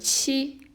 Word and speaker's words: 七: horizontal and then vertical with AB and it's pronounced as she number seven number eight looks like chopsticks you've